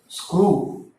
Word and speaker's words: screw: Screw. Screw is written like this in English. Screw. So we can see the difference. S-C-R-E-W. This is pronounced as screw. W എന്നുള്ളതിന് ഒരു sound വരുന്നില്ല.